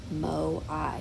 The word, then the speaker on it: moai: achievements one is the creation of the 887 moai mo i is how it's pronounced statues that they built they were probably